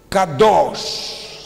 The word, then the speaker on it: Kadosch: Donc vous avez bien écrit Kadosch. C'est comme ça que ça se prononce.